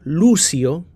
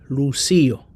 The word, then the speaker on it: Lucio: Hay algunos países latinos donde dicen Lucio y hay otros países donde dicen Lucío. Hay dos maneras para pronunciar esta palabra en español.